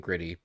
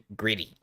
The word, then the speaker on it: Gritty: it's two teas and gritty gritty is the best philly mascot um i don't know about that it's two t's but it's pronounced with two d's if you're from philly greedy instead of grit gritty